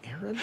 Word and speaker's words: Aaron: I said a Aon because it's pronounced Aaron you done messed up